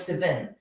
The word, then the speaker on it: Savin: seriously interesting um and i said have i pronounced your name right because it was s-a-v-i-n and with my kiwi accent i often get things very wrong and he goes no it's perfect he goes um i've